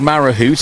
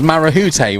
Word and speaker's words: Marahute: now, because that is all I said was Marahoot. I didn't even say it right to start with. It was Marahute, was it?